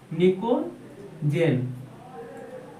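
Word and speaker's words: pnictogen: नाम क्या है निकोजन निको जन देखिए निकोजन में पी साइलेंट होता है ठीक है इसलिए इसको निकोजन पढ़ते या इसको नाइट्रोजन फैमिली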